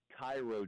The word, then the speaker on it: Cairo: grow up down here, you don't know how to pronounce Cairo, Georgia, and then it's not Cairo, you can't win in the SEC.